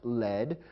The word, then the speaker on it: lead: lead which means directed however there's another word pronounced lead which is spelled the same as lead le